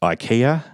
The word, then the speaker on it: IKEA: So if someone said IKEA, you might hear that and spell that E-Y-E-K-E-Y-A, which is quite different to how it is spelled, I-K-E-A.